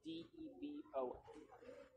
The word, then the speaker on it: Devon: So it can also be a female name, but when it's a female name, it's spelled D-E-V-O-N. And then it's more like Devon, right?